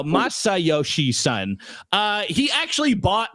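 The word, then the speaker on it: Masayoshi Son: It's myoshi son. No, Masai son.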